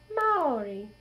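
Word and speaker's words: Māori: And it's actually pronounced Maori.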